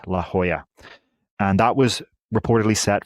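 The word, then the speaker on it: La Jolla: named La Hoya I finally learned how to pronounce it right La Hoya and that was reportedly set for 2027 again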